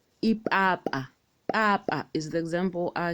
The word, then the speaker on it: ipapa: Next is letter P, which we pronounce with a pop. Ipapa.